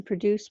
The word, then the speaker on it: produce: difference in these words it's the accent on the syllables the first one produce produce has the accent on the second syllable produce produce the second one has the accent on the first syllable produce produce can you